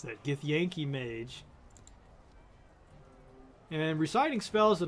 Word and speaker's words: Githyanki: Now he's up against this Githyanki, which is the way you pronounce that, Githyanki mage.